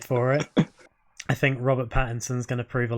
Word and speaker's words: Pattinson: it i think robert pattinson is going to prove a lot of people wrong i thought so get it right battington it's pattinson okay battinson um we